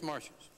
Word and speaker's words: Marcius: I use what I suppose is the accepted American pronunciation. I certainly am not able to use the classical pronunciations of these names, but what I'm using is I think as near as I can determine the American pronunciation, or the English pronunciation. I think it's Martius.